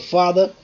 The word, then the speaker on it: father: Okay, for example, let's say in English word father, father. Okay, now see here, father, father, father. Here what happens? What happens? That is fa. The first syllable is stressed, and the second syllable is what? Unstressed, because stress mark is here.